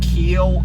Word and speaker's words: Keel: It's Keel in Time Transport. And Keel is spelled Keel, like the keel of a ship.